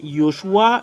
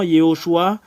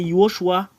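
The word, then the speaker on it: יהושע: un faux en fait ça n'existe pas le nom Yoshua ce qui est vrai avec le nom que Moché a envoyé c'est yosua et nous allons enlever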